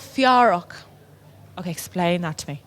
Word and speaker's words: Fiárock: We're called Fiárock. Okay, explain that to me. So Fiárock is two words in Irish that we kind of combine together.